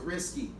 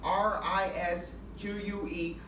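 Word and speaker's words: risqué: I hate when people pronounce it risky. It's not risky. The word is not risque. RISQUE with a fucking accent mark over the E.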